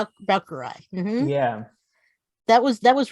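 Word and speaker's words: Braucherei: powwows what is that how do you pronounce that second one the brachiary browkarai yeah that was that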